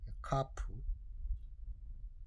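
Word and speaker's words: כף: 카프 카프라고 읽습니다.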